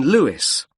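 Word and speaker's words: Lewes: You don't pronounce the S. Carlile way. And that's in Lewis.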